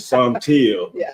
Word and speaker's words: Saunteel: paper, he spoke about the correct pronunciation of your name, which is Saunteel, son of the color teal.